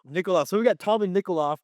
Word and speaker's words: Nickoloff: We have got, oh my God, how do you pronounce his last name? Nickoloff? You got it. Nickel off. Nickoloff.